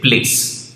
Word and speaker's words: Playace: बट इसको pronounce करते हैं एकदम सिंपल तरीके से, प्लेस।